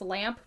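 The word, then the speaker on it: Lampe: And there was this town, either in Missouri or, like, northern Arkansas, I don't remember, but it's Lamp, but it's spelled with an E on the end.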